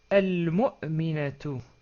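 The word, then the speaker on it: المؤمنة: Ça devient al-mu'minatu. Al-mu'minatu. On a rajouté une ta marbouta à la fin. Et on peut dire, quand on s'arrête sur le mot, bien sûr, rappelez-vous, on peut dire al-mu'mina.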